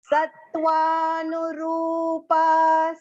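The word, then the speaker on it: सत्त्वानुरूपा: So you can see sa, and there are 3 alphabets joined together there. So that pronunciation should come nicely. Sattvanu. Long va, no short. And the ru here in the middle of the word is long pronunciation. Okay, ra with a long u vowel sound. And the pa is also long. So Sattvanu rupa.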